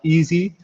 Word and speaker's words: EASI: my department is is written like e-a-s-i which is pronounced easy so my function in